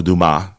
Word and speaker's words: Dumas: And it's the Count of Monte Cristo with Alexander Dumas, and or Dumas for those who you want to be more correct in the pronunciation.